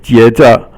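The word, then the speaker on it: 接着: And then the next one is 接着, 接着, 接着. 接 is first tone, and then 着 is silent, the 轻声, and it basically means to catch.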